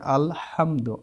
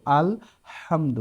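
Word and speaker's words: الحمد: হা এগুলো সব হাকম আপনারা বড় হা যদি উচ্চারণ করা শিখেন সূরা ফাতিহার শুরুতে দেওয়া আছে আলহামদু আল হামদু বড় হাদি পড়বেন সেটা কেউ যদি পড়ে আলহামদু সেটা ভুল হবে তারপর দেখেন খ এগুলো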